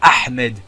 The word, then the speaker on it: Ahmed: Et arrêtez de vous foutre de moi, je dis Ahmed, ok? Le H se prononce. Bon, c'était une petite parenthèse, voilà. Claude a la haine clairement contre Ahmed et tous les moutons de l'équipe rouge.